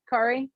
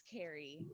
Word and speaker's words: Kari: Have I been calling you the wrong name, Kari? Carrie? No, it's Carrie. Okay. I don't know. Carrie, I may yeah. have been. No, it's okay. It's spelled with a K. It's Carrie.